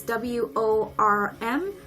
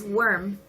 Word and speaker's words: worm: I know that the pronunciation is kind of confusing because it is very similar, worm and warm.